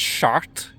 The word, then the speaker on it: Chartres: Actually, I believe it's just pronounced Chartres in French, but obviously that word doesn't have very good connotations in English.